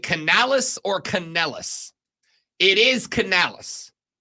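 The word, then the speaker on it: Canales: Rob is it Canalis or Canalis it is Canalis c a n a l es I have heard a lot of people pronounce it caneles I will also acknowledge that if I'm talking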